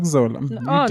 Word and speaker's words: Nokuzola: Did I say it right? Nokuzola. You did. Nokuzola. No, the way you say it, Nokuzola. And when you say Nokuzola, was born in 1964 in Langa a township near Cape Town.